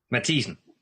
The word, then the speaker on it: Mathiesen: First of all, Keld, how do you pronounce his second name? Is it Mathiesen or Mathiesen? Mathiesen.